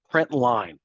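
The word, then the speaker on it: println: in the print Ln that is a letter L not the number one print line is how you say that print line and then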